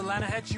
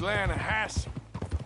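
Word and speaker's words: Lannahechee: rode down to the Lana Hetchy River I caught some beautiful steelhead trout you mean the Lana no Lana hatch it runs right near here yeah but it's pronounced Lana Hass why is everything in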